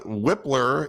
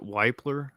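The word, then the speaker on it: Wypler: you know again uh whippler is or is it white blur it's Luke whippler I don't know why people pronounce it wipler unless I've just unless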